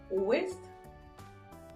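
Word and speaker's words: ouest: French में क्या बोलेंगे ओवेस्ट ओवे अगर आप ध्यान से सुनेंगे सेम साउंड आ रहे है बट थोड़ा सा डिफरेंस है थ थ ओके तो चलिए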